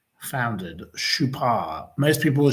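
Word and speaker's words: Chopard: Now, in which year was the Swiss watch and jewelry manufacturer Shupar as it is correctly pronounced founded. Shupar. Most people will say Shop.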